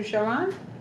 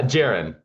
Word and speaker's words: Jiren: Um, am I mispronouncing your name when I call you Jiron? Uh, Jiren, like Erin, but with a J.